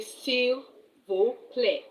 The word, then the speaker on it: s'il vous plaît: or someone that is a stranger, you say s'il vous plaît.